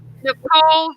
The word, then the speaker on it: Nichola: confirm damian that um nicole's name is pronounced nicole oh good to know yeah the a is silent and i think and